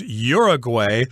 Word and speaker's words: Uruguay: I should mention that a lot of westerners pronounce this word as Uruguay but in espanol I guess it would be pronounced Uruguay Uruguay so Uruguay or Uruguay